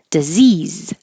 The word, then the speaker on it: disease: speakers are saying Mountain disease D is not stressed so it won't sound like d disease it'll be D or du either one and it doesn't matter I because it'll be shorter disease and diseases that's a z practice schedule this one